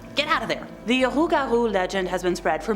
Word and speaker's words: rougarou: Rougarou represents a variant pronunciation and spelling of the original French loup-garou, which is the version I heard about when I was younger at summer camp.